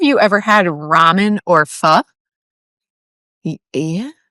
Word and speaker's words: pho: Do you guys, have you, either of you ever had ramen or pho? Yes. It's kind of like ramen. No, it's spelled it's spelled PHO, but you pronounce it like pho.